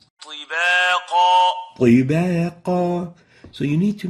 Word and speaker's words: طباقا: While the second mistake is attenuating the ta, so it would sound as if it is a ta. Example, tibaqa, tibaqa, T instead of ti. Tibaqa, this is wrong. We need actually to pronounce it as a ta, like this.